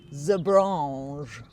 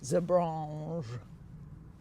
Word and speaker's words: Zebrange: And it's Zebrange, because apparently they were created by a Belgian guy. So Zebrange. You have to say it like that, like Poirot would say it.